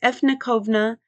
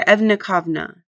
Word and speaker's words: efkovna: So the Nevnamonian word efkovna, meaning you in plural, or you all, is pronounced efnikovna or evnikovna.